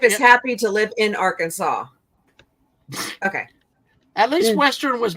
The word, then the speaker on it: Arkansas: 60c short of Arkansas Arkansas no you have to say it right nuh it's Arkansas yeah and and Mom I